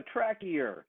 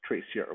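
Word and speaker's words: traceur: he says I'm a Tracker he doesn't pronounce the French right the real word is Tracer which is something that parkour people are called I'm a Tracker he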